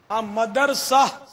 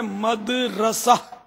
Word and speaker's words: مدرسہ: مدرسہ یہ غلط العوام ہے، اصل اس کا تلفظ ہے مدرسہ، میم دال زبر مد، را زبر راہ، را زبر را اور سین آ زبر سہ، اردو کے حساب سے ہجے اس کی یہ بنے گی، تو مدرسہ.